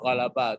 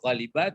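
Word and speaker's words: غلب: Kalau fi'il madinya ghalaba, jelas fi'il madinya ghalaba, tidak ghaliba, tidak ghaluba, tapi ghalaba mudhari'nya tentu yaghlibu.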